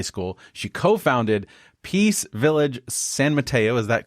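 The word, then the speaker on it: San Mateo: High to high school she co-founded peace village San Mato is that correct Bonnie is that how you pronounce it yeah that's it yes it is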